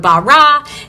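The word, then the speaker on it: ברא: It's the word bara, and then you can go from there.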